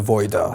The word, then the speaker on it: Vajda: You know, another way to remember how to pronounce my name, because of course it's spelled Vajda in the Hungarian way, is I like to say that don't avoid the Vajda.